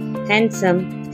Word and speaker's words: handsome: Whenever you will found A, E, N before D, in that case D will be silent and the pronunciation will be badge, edge, handsome, hedge, sandwich, with, Wednesday.